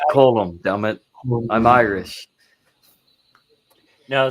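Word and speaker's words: Colm: Yeah, it's pronounced column.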